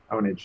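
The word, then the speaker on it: Pwnage: series called Pure Ownage which is spelled with a p but they pronounce it onage not ponage for some reason I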